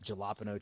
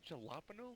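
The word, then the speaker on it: jalapeño: Galapo cheese. Oh, damn it. You guys get cheese. Say jalapeno. Yes, that's how you say it when it comes out of an M.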